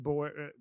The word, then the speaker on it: Boer: just like the boar, the animal. Okay. So what is this? Is it kill the Boer chant? Is Boer referring to white people?